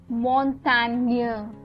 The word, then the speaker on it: Montagne: Next is Montagne.